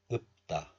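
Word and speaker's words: 읊다: We pronounce this word as 읍다.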